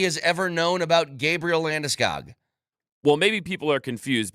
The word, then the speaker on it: Landeskog: anything that anybody has ever known about Gabriel Landeskog. Well, maybe people are confused because they don't actually know who we're talking about, because we've all been saying his name wrong for like 15 years. Gabriel Landeskog.